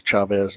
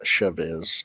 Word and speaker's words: Chavez: Is it Chavez? Okay, it is Chavez, not Chavez. Chavez.